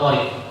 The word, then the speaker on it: Thoriq: Tadi nama saya Tariq. Cuma bacanya hati-hati. Tariq itu ada dua. Kalau Tariq koknya panjang namanya bintang.